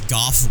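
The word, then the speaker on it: Gough: uh i i think most people would have pronounced his name go but i just kind of assumed it was goff right away and then he confirmed it um but that's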